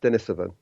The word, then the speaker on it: Denisovan: okay I mean it's it's pretty it's definitely pronounced Dennis of it so now and and you mentioned you know